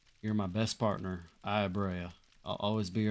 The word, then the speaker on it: Brea: You know, I keep saying Brea, but I'm pretty sure, like, it's pronounced Bre. Like, I feel like it's not officially pronounced that way, but if you think of the word like breath, the B-R-E-A makes a eh sound.